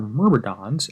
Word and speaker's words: Myrmidons: going to show you how to rank your mmons and yes I did check that's how it's pronounced in the level 50 vxp targets hey